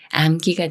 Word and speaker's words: 암기: 다음에 기라는 말이 와서 암기가 되는데요 미음 받침이 기억을 만나지만 쌍 기억이 아닌 기역 소리 그대로 그로 읽어요 암기 암기 예문 읽어